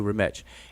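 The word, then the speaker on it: Remetch: that's not even assumed that is the uh uh standard accepted way to pronounce that word retch we don't know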